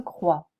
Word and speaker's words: croix: entend pas le P genou une croix on entend pas le X fille j'habite fatigué petite